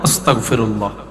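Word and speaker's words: أستغفر الله: যেভাবে পারেন কিস্তেগফার বলেন তো কিস্তেগফার অন্তত এতটুক আস্তাগফিরুল্লাহ কন গ আস্তাগ কেন আস্তাগ আস্তাগ আর বজ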